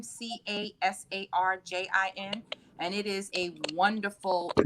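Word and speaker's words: Casarjian: me that I read is called Forgiveness, A Bold Choice for a Peaceful Heart by Robin Casarjin, I think is how she pronounces her last name, Casarjin.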